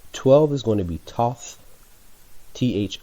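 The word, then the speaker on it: Thoth: o ug mount 12 is going to be tough th o th 13 is gonna be Chum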